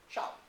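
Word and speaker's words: sal: The initial consonant of shall appears as S. So, it's spelled S-A-L, it's pronounced shall.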